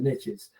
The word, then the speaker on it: niche: Yeah, it's a bit of an Americanism and rich doesn't rhyme with niche. We Americanize it and it works.